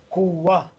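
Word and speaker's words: قوة: Kuwa. Kuwatan. Don't pronounce ta. It changes into ha because you stop here. Kuwa. So it has the tanween on it, but it's pronounced as a ha.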